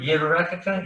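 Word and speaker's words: יברכך: So like in the priestly blessing, it goes Yivarekaka, the first word, Yivarekaka. You hear the Yud in there, the first syllable, Yivarekaka.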